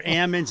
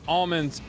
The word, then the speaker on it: almonds: Dr kennet UOP quote mostly Growers say almonds because they shake the L out of them good wood joke good